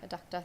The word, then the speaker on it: Eductor: it in my head, trying to remember, was it adductor or eductor, but no, adductor, thank you. So this is basically a motion to approve the purchase of an adductor truck and utility with the cost of about $852,000.